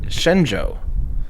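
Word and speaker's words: Shenzhou: you so much for the pronunciation of Shen Xue is actually Shen Joe thank you I did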